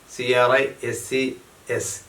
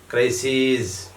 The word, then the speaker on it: crises: അപ്പോൾ ക്രൈസിസ്, CRISIS, plural ക്രൈസീസ്, CRISES, ക്രൈസീസ് ഉച്ചാരണം. The pronunciation is crisis, crises, crisis, crises.